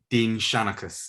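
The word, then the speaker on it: Dinnseanchas: i think is right dean shanacus is how you say it right um let me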